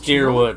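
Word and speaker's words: Dyrwood: It is Deerwood. I've been pronouncing it correctly.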